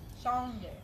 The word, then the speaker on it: Shange: Shange. Looks like sage. It does look like sage. Shange. It does look like sage, but it is pronounced a little bit differently.